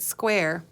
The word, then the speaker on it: square: of square kindergarten yeah that E is silent isn't it square and there's our big